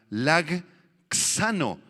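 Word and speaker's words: λαγχάνω: Esta palabra alcanzar proviene de la palabra griega lagxano. Lag, y luego viene una X y acento en la A.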